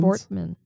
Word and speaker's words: Vortman: Vortman. Nobody's spell it out. This is the sugar. V O R. Yeah. T M A N.